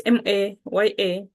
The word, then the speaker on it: Mayao: Kubwasha mayao. So kubwasha mayao. Kubwasha is spelled Kubwasha. Kubwasha. Mayao. It's Mayawo. But sometimes it can be spelled as Maygho. Mayao. Mayao. Mayao, but you can use WO.